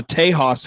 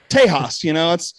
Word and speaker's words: Tejas: I'm wearing my Tejas hat tonight. There you go. I believe that is the original Spanish pronunciation of Texas. Not original, because language changes constantly. But sure, Tejas.